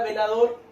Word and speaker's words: velador: Que es una palabra aguda con tilde, y la palabra velador, que es una palabra aguda sin tilde.